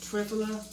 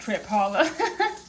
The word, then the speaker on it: Triphala: The other thing that I take at night is called, I say it, Triphala. It may actually be said something else. It's spelled like Trip Holla. I don't think it's pronounced like that though.